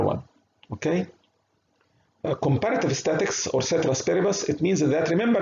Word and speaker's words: ceteris paribus: Okay, it is pronounced ceteris paribus.